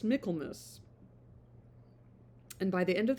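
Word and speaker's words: Michaelmas: not be married until Michael, it's pronounced Miklmus.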